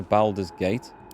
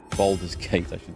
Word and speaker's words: Baldur's Gate: carry me get to balder's gate Boulder's Gate I should pronounce it properly an old map in